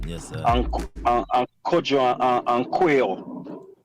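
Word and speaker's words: Quao: sign, you know, yes, sir, and Kojo and Quail. Quail name pronounced Q-U-A-O.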